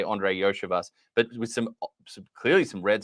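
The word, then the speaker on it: Andre Iosivas: The first time I saw that, I wanted to pronounce it completely differently, and I had to retrain myself, say Andre Yoshivas.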